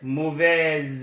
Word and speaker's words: mauvaise: Mauvais, mauvaise, when you add the E, the S sound, the S changes to a Z sound, and then you pronounce it.